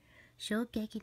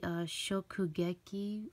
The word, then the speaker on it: Shokugeki: So, Shogeki no Soma Food Wars, volume 13. By the way, I realize I've said the name wrong all this time. Wait, it's actually Shokugeki.